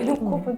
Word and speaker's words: 눈곱: 여기서 제가 하나 짚고 넘어갈 거는 저희가 눈꼽이라고 이제 발음을 하잖아요. 근데 실제로 쓰실 때에는 눈 곱 곱창할 때 그 곱어 그렇죠. 그 곱인데 사람들이 가끔 눈꼽 이렇게 올 때가 있어요.